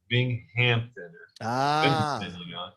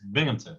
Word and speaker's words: Binghamton: binghamton really really yeah everybody thinks southampton bing hampton is binghamton one more funny you